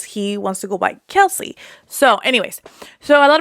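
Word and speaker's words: Kelce: super fan of the Kels brothers because we've been calling them Kelsey brothers, but I guess you pronounce their last name Kels, and I was like, no.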